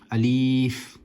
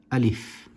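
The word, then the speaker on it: ألف: It is pronounced nice and sharply without stretching any letters. There's a common misconception about the letter Alif. Some people like to pronounce it as Alif, and that is incorrect.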